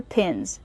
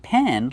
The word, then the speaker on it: pin: Pronunciation, use the short I sound like this is. Pin. Not pen like you write with, but pin.